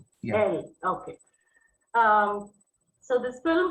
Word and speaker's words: El: are discussing uh the Spanish uh film uh L uh I I don't know if that's how it's pronounced by the is that how it is pronounced? Yes, it's L. L.